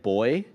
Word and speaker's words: buoy: know by the way that buoy can be said boy it's actually two pronunciations yeah yeah yeah like